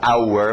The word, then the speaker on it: our: Isso vai mudar depois, a nossa pronúncia rápida para our vai mudar para are.